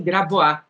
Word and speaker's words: Grabois: Eu falava, como tem uma tradição muito francesa, né, eu falava Maurício Grabois, Ventura, né, falou assim, a Guiomar é a única pessoa do Brasil que pronuncia Maurício Grabois. Ela é tão francesinha que ela fala Maurício Grabois.